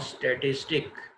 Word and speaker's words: statistique: German word है हमारे पास स्टैटिस्टिक, जिसके स्पेलिंग है STATISTIK, उसके मीनिंग भी सिमिलर पॉलिटिकल स्टेट के। और फ्रेंच में लफ्ज़ यूज़ हुआ, उसकी स्पेलिंग है STATISTIQUE, स्टैटिस्टिक ही हम इसको पढ़ेंगे और इसके मीनिंग्स भी पॉलिटिकल स्टेट के हैं।